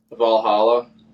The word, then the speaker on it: Valhalla: Valhalla. Valhalla.